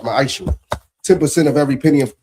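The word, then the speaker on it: מעשר: Means 10th in Hebrew and it's pronounced ma'aishu.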